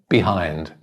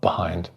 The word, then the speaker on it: behind: behind in a sentence the pronunciation is probably but behind behind i'm getting behind but the word sitting on its own behind but in a sentence you'd probably make it an unstressed vowel sound but behind so yeah